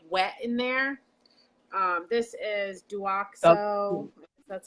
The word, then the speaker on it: Douxo: This is Duoxo.